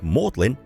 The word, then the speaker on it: Magdalen: Even though it's spelt as Magdalen, it's pronounced Magdalen here in Oxford, as this is the Old English pronunciation of the word.